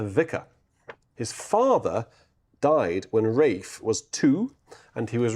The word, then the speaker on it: Ralph: So it's pronounced Rafe not Ralph as we spoke about earlier.